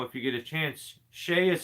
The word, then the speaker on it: Shay: on every PR so our guy uh Peter Shay is another YouTuber really good tree guy so go check out Peter's Channel if you get a chance Shay is spelled s h EA so Peter left